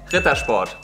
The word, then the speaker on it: Ritter Sport: The correct way to say it is Ritter Sport. That's what I said.